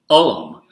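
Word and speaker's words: Ulm: Arkansas, where I'm from, this is actually pronounced Stuttgart for Stuttgart and Ullum. So Ullum. So whenever I read this quote, I read it, "I'm an Ullum," because that's how I pronounce U-L-M, Ullum.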